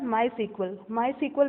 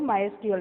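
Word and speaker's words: MySQL: For example माई सीक्वल भी इसको pronounce करते हैं, कई लोग माई एसक्यूएल भी प्रोनाउंस करते हैं।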